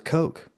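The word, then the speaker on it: Koch: oh I ask he question oh yeah it's pronounced Coke okay perfect there we go so uh yeah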